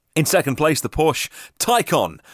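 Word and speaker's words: Taycan: lovely looking car in second place the Porsche ty con spelt taken pronounced icon and I especially like the ty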